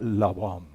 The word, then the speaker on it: Labán: Esto se pronuncia, no se pronuncia Labán, se pronuncia Labán.